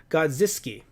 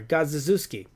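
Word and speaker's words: Godziszewski: with riffle rifle and I'm gonna spell it out for you guys G OD Z is ze w s ki gods this key no I'm sorry gods Zeus key god Zeus key gods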